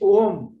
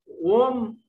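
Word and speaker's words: Om: तो इसका मतलब फर्दर एक्सप्लेनेशन में है, this ओम one syllable one word can be pronounce in A humming sound in one syllable और three syllable. ओम AUM, सो इन वन ही इज the ultimate reality.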